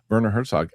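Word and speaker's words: Werner Herzog: about in camp shower Herzock I would say it wrong, but Verer Herzog and he um he's doing this accent.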